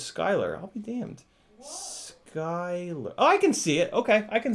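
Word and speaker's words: Schuyler: you man Schuler says it's pronounced Scott really seh uy l er is Skyler I'll be damned I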